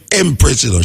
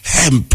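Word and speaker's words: Hempress: where sativa is but she not name emess she name hemp you have to pronounce h in her name know well a gja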